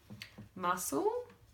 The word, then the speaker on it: muscle: then use feeling right muscle silent C but then we say muscular and we can hear it crumb can't hear that